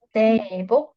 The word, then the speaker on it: 새해 복: 많이 Sebok hanya dibacanya sama.